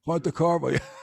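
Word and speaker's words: Pontecorvo: You might know Bobby from his portrayal as Eugene Pontecarvo. Am I pronouncing that right? Ponte, Pontecovo Bridge Ponte, Crow. Yes, it's good to be here. Pontecarvo.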